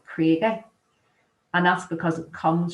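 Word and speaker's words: Cregagh: and never struck me why we called the krieger even though it's spelled c r e a c r e g a g h krieger but as locals we all call it crater and that's because it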